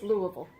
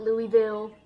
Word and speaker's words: Louisville: in downtown Louisville and yes it's Louisville it's not Louisville not Louisville it's that's the correct pronunciation anyway there was a